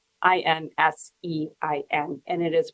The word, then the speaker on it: Insein: the prison that he was in is called Insein, Insein, and it is pronounced that way.